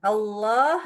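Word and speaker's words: الله: itu enggak maju mulutnya berarti bukan bulat ya bukan o yaak boleh bulat bukan O enggak bolehak boleh O ya ini bagian belakang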